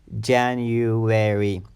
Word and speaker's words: January: January January this word has four syllables when the stress or emphasis is on the first syllable January January there is an